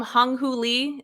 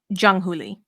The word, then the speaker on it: Jung Hoo Lee: Is his name Hung Hoo Lee? Is that how you say it? Jung Hoo Lee.